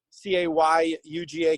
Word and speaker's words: Cayuga: and now even cayuga lake and hugo lake spelled with a c c-a-y-u-g-a cayuga lake has been just absolutely full of